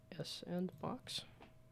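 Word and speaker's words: s&box: Jam game Jam which ends in 12 hours s and box is it supposed to be sand box spiritual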